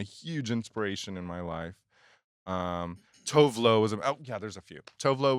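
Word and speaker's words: Tove Lo: Tovlo was there's a few. Tovlo was great. I love Tovlo. Tuvlu, how they say it.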